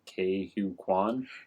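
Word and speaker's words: Ke Huy Quan: Oh, Because for how do you pronounce his name? Ke-Huy Quan.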